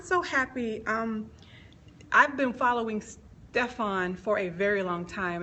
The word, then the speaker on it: Stephan: Where Is My Boaz, Stephan Labossiere. Stephan Labossiere. See, all this time I've been saying, Stephen, darn it, I tried to do it right. But I'm so happy. I've been following Stephan for a very long